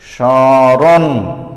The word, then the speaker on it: স্মরণ: তো এখানে আমাদের নিয়ম হলো যে শব্দের প্রথমে মফলা থাকলে তার উচ্চারণ হবে না এবং সেটি যুক্ত স্বরধ্বনিটির সানুনাসিক হবে, মানে নাক দিয়ে সামান্য উচ্চারণ হবে। স্মরণ। দেখো, এই রণ যখন আমি বলেছি তখন আমার নাক দিয়ে একটু সামান্য কম্পিত হয়েছে, এই সামান্য কম্পিতই হলো সানুনাসিক।